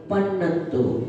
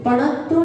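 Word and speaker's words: पन्नत्तो: अरहंता लोकोत्तमा, सिद्धा लोकोत्तमा, साहु लोकोत्तमा, गुत्तमा, केवली पन्नतो, पणत्तो नहीं बोलना, केवली पन्नतो धम्मो लोकोत्तमो।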